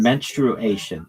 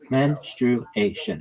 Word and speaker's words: menstruation: And menstruation. It's menstruation. It's 4 syllables, not menstruation. That's not right.